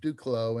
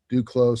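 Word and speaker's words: Duclos: his name is dave duclow and he has a business called duklow lenses d-u-c-l-o-s do close some people call it due close he pronounces it duclo and he is a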